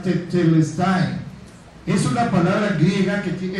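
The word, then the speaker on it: τετέλεσται: Esa palabrita extraña que tienen ahí se pronuncia tetelest.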